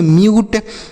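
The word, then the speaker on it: mute: यू के बाद अगर एक अक्षर छोड़ने के बाद इ लिखा हो तो यू के रूप में क्यूब, ट्यून, म्यूट, क्यूट, ब्यूट।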